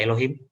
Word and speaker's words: Elohim: Ini bacanya Elohim.